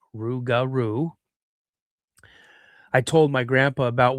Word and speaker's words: Rougarou: the old legends of the Rougarou, which is pronounced Rougarou.